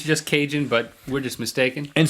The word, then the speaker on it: Cajun: Or Cajun, which I'm pretty sure it at least rhymes with Asian.